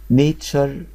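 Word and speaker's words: nature: فيوتشر فيوتشر يعني مستقبل نشر يعني طبيعه نشر الكلمه الاخيره نشر يبقى عرفنا تي يو ار ان سوري تي يو ار اي بتتنطق شر طب بدل حرف التي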